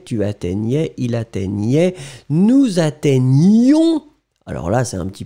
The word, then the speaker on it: atteignions: La forme « nous », elle est quand même sportive, « nous atteignions ».